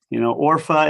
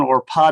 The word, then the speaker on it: Orpah: Orpha is the other one, or Pa, depending on how you pronounce it.